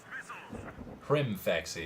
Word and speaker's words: Rimfaxi: Rimfaxi. It's an M, not an N. Okay, my bad. I was pronouncing it wrong before.